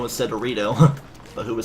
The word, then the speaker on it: Rito: It's like pronouncing any race in Zelda. You better not say Deku instead of Deku. Don't say Rido instead of Rito.